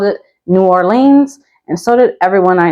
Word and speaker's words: New Orleans: But this one actually has a couple different pronunciations. The majority of people will say New Orleans. There are some locals, depending on their accent, who will call it Nolans.